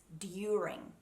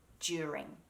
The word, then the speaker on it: during: the english pronunciation is during but in australian english we get a little bit lazy and so we mix that d sound and make a j during during during it's just